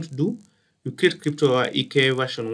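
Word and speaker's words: IKE: I normally call it EK. IK. Some people call it IK. But me, I call it EK. Just a simple pronunciation.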